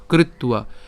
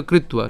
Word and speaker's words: কৃত্বা: সুখ দুঃখে সমে কৃত্বা, আমরা এটা একসাথে উচ্চারণ করব, কৃত্বা, একসাথে বলে কৃত্বা।